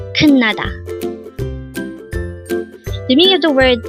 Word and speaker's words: 끝나다: 끝나다. Again, it's 끝나다. This pronounced as a 3-syllable word. The first syllable is 끝, second syllable is na, and third syllable is da. Pronounce it with me. 끝나다. 끝나다.